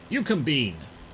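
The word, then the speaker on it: Eucumbene: Yukombine.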